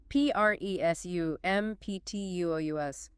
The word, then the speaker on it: presumptuous: P-R-E-S-U-M-P-T-U-O-U-S. Where's the stress? Stress on the second syllable.